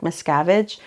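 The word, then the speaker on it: Mickiewicz: his name is Adam miskevich but in Poland it literally sounds like miscavage but he was a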